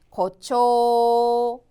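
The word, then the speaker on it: 誇張: 과장 음독으로는 코 짧다. 그렇죠? 그래서 발음이 고초. 고초.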